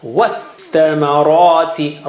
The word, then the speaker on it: وَالثَّمَرَاتِ: So there you have the notations that you don't read alif because tha is asking for help, and you don't read lam because lam has no sign. So always this alif and lam, alif and lam, alif lam and lam in all these examples of Shamsi, you will not read them.